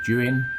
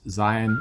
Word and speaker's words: Zhiyun: so many reviews of the jooheon and i think that is how you pronounce and not zion i was in doing